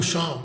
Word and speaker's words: Shyam: Like my parents say Sham. Yeah. Sham? Yeah. Yeah. And then I tell most people to say it with the A because the Y is silent, right?